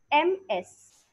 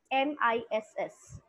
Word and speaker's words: Ms: Now, the second point is, let us understand the difference between MS, MRS, MISS. What is the difference? How do we pronounce them? MS stands for Ms. Not Miss, Ms. with Z.